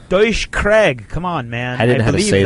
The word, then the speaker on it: Craig: remember, friends in the U.S., the correct way to say Craig is C-R-A-I-G, or Craig.